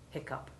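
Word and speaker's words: hiccough: 11 if we include the oddity hiccup which is a common alternative spelling of hiccup and is pronounced the same well there we are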